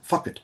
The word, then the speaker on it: fucked: Quasi-monosyllabic suggests that the second fucked is pronounced as having 2 syllables, fuck it, perhaps an imitation of Molly's pronunciation.